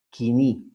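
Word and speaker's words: κοινή: Este es el griego bíblico llamado el koiné o pronunciado kini, ¿no? Que es la pronunciación moderna que nosotros usamos.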